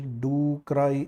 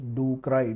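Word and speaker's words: ducreyi: for duay shro and the word is do cry if you want to pronounce it better because it is painful leion hopus duay shank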